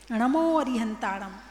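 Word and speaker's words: णमो अरिहंताणं: ना बोल दिया नमोकार नमो अरिहताणम गलत हो गया अब वो संस्कृत में हो सकता है प्राकृत में नहीं हो सकता है तो नमोकार नमो अरिहंताणं नमो सिद्धाणं यह शुद्ध उच्चारण है मंत्र का यदि इतने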